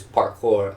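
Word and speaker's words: parcours: obstacle course which is parkour Duke um essentially p-a-r-c-o-u-r-s the S is silent um and the the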